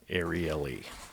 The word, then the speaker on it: Ariely: Dan Ariely. Is that how you say it? That's how they said it on the podcast, on the audiobook. audio. Yeah. Ariely.